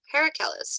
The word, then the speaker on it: Paracelsus: Thank you, Paracelsus. Cool, good to know. Since you know how to pronounce his name, Paul, does that mean you know about his philosophies and his teachings?